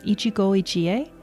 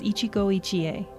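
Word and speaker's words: 一期一会: And I think I'm pronouncing this correctly, Ichi-go, ichi-e.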